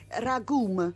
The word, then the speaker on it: ragù: domenica c' non che lei pronuncia in dialetto ragum è come se avesse una m finale che però resta sorda equivalente Ecco a ragù